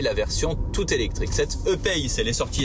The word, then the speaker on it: E-Pace: Bon, alors, la Jaguar en question est une E-Pace, je prononce E à la française, E-Pace si vous préférez, pour ne pas confondre avec la I, voire I-Pace, donc avec un I comme Isidore, qui est la version toute électrique.